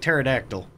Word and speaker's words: pterodactyl: bond with sukino I it confuses me that the tea is silent and that it's like pterodactyl everyone brings something to